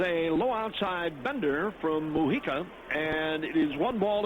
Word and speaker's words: Mujica: Lou Iike that the the J is silent it's like 1/8 Mujica here's the pitch that's down low and outside talking with Edward before the game he said it's pronounced mujika but skipping visalo tells